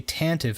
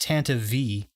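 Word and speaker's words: Tantive IV: and it's tantive four but it's not actually tantive I found out that it's pronounced Tanta V so the Tanta V4 is the ship that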